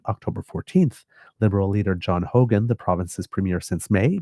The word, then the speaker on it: Hogan: I always have to make sure that I pronounce his name correctly, because there was the former premier of not Nova Scotia, British Columbia, I think, who was John Horgan. So just one little difference between them.